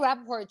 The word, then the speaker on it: Rappaport: And then in the interview with Michael Rapport that we just put up, she's doing the same thing, discussing Teresa's girl. And when Michael Rappaport, I said his last name wrong, when Michael Rappaport tries to change the subject, she brings up